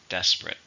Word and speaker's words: desperate: serious or bad adjective how many syllables are in desperate 2 or 3 stressed on the first syllable desperate the situation is desperate